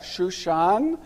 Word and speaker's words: Susa: in the palace of Susa, and the Persians would pronounce that Shushan.